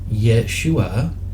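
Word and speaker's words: ישוע: And this is deep, because what you'll see in a moment, and this Hebrew word here, pronounced Yeshua, right?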